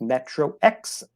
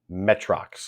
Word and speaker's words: Metro X: rolling rights or flipping wrench for sure that's metro x my number three of last three in this household that game we don't own it but it is pronounced metrox metrox metrox that's fair yes all right my